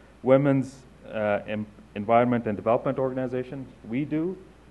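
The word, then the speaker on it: WEDO: We Do, is the right way to say it.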